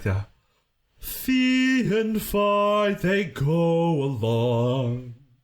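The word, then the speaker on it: Fiee: you come to this moment where you're like fee and phi and it's spelled f-i-e-e pronounced fee and phi f i g h like psi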